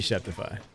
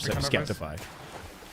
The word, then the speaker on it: Sceptify: Go for Should be Septify. Phonetically, it should be Septify. Yeah, it's just not. That's why it sounds wrong to me, but I think he himself calls himself Skeptify.